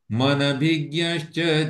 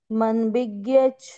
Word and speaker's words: मनभिज्ञश्च: मनभिज्ञश्च जायते। मनभिज्ञच्छ जायते। मनभिज्ञश्च जायते। मनभिज्ञश्च जायते। मनभिज्ञ के बाद में जो श है ना, वो तो यस। उच्चारण में आ रहा, च नहीं आ रहा है।